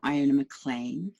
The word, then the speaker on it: Iona Maclean: So I'm Iona Maclean, that is how it's pronounced.